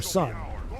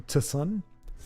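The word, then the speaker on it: Tsun: who soon is or sun the t is silent right it wouldn't be T Sun T sun and that ancient Nord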